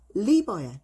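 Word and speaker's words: liver: 간은 L r이 아니에요. 그래서 리버야.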